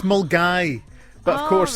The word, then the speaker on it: Milngavie: Yes, so Mulgai is how it's pronounced. Mulgai.